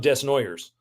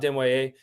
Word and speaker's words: Desnoyers: And it is, to all of you American hockey fans out there, it is spelled Caleb Desnoyers. But it is in fact Caleb Desnoyers, who plays in the